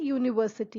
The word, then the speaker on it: university: Second one, it is used before words that begin with E or U and has the sound U. So if there are words which begins with U or E and has the sound Y, U sound, then you will write the article a. For example, a university.